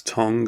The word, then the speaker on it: tongue: eyes reaction but the tongue ruins it if you're amused by me pronouncing it as tongue and not tongue it's just because as a natural Oh in the word and ah sound anyway let me go back